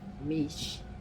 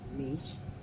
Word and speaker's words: Miche: So, I was seeing all these advertisements for Meech, which is how you pronounce it. I've been pronouncing it all wrong. Meech.